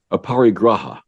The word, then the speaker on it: aparigraha: Socha and ah power I'm going to say this wrong aparigraha you said it right thank you um these